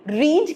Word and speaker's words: read: तो second form of verb, learn की learned ली हमने, रीड की रेड ली, स्पेलिंग सेम है, मीनिंग स्पेलिंग सेम है, बट उसका प्रोनाउंसिएशन जो है वो डिफरेंट होगा, रेड।